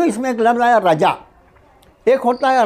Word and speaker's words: رجا: لفظ رضا، رضا الہی۔ وہ را ضاد الف ہے، یہ را جیم الف ہے، رجا۔ یہ رجا کا مطلب ہوتا ہے امید کرنا، رجا۔ تلفظ کے فرض سے رضا کو رجا اور رجا کو رضا اگر بولا تو کچھ کا کچھ ہو جائے گا، تلفظ کا بہت خیال